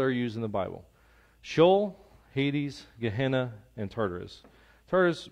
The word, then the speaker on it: Sheol: So in Hebrew, they would use the word Sheol. Or Sheol, depending on, you know, if you want to say it right.